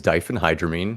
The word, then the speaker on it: diphenhydramine: a letter in there uh the game is dyen hydramine which is the uh colloquial chemical uh drug